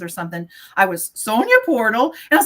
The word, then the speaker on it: Portel: My maiden name is Portal, P O R T E L. And so anytime we would have so any sort of like singing competitions or something, I was Sonia Portal.